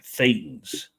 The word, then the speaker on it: thetan: special Revelation from hubber humans are really thetans or pronounced thetans or Immortal Spirits this term comes from the Greek letter Theta or Theta here you